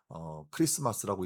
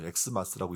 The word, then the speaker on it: 크리스마스: 어 그래서 여러분, 이제 크리스마스 할 때 우리가 이제 영어처럼 보이는 X, 대문자 X처럼 보이는 게 영어 X가 아니라 헬라어 크리스토스의 첫 글자인 키라는 단어입니다. 그래서 크리스마스라고 읽는 거죠. 엑스마스라고 읽지 않고.